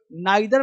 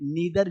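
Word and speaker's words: neither: है आई या इ जैसे इसे लोग नाइदर पढ़ते हैं और कभी-कभी लोग इसे नीदर भी पढ़ते नीदर या नाइदर ईदर या आइदर इसलिए लोग इदर ही पढ़ते हैं। ठीक है? अच्छा है तुम नाइदर पढ़ो, आइदर पढ़ो। दोनों सही है।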